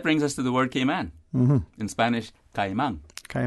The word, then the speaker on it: Cayman: town for example it is often mispronounced off is often said K amen have you noticed that mm-hmm so I'm not gonna say it again for that and what people say that some people from overseas claim to perceive that we native-born came onions and other residents pronounce the name in various and sundry ways other than the customary correct way that we actually say it that is gay man they seem to hear